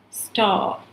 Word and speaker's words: star: அப்போ ஸ்டார், ஸ்டாருன்னு சொல்ல மாட்டாங்க, ஸ்டார்.